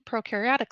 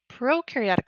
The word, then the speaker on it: prokaryotic: Proaryotic cells on the other hand, pro rhymes with no because proaryotic cells do not have a nucleus and they do not have organels.